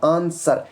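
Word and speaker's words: answer: India है ए एन S blue A आर आंसर यहां पर बीच में ये साइलेंट रहेगा ऐसे ही कुछ शब्द है लेकिन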